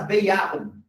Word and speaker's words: Bejahung: É muito que vocês não esqueçam o que é essa Bejahung. Tá? Escreve B-E-J, J-A-B, né? Que se pronuncia aí, né? Bejahung, esse Ya é o sim em alemão.